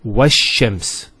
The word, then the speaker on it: وَالشَّمْس: This is L of definiteness. This is Hamzat al-Wasl. It's not pronounced, because there's something before it. Similarly, this lam is not pronounced either, because as we said, this is from the sun letters, and there's a shadda there.